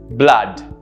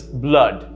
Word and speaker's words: blood: look at another one if you were to pronounce this as it is spelled you would have to pronounce it as blood or blood both are incorrect right the correct pronunciation is blood notice the earth sound